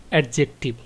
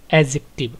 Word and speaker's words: adjective: অনেকে এটাকে উচ্চারণ করেন এডজেক্টিভ না শব্দটার উচ্চারণ হবে এডজেক্টিভ অর্থাৎ ডি টা অনুচ্চারিত এটা সাইলেন্ট থাকবে তো তাহলে এক কথায়